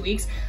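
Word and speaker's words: Ouai: from ulta and i love it it's the wee hair care line and i love the wee hair care line it's spelled o-u-a-i kind of weird but it's a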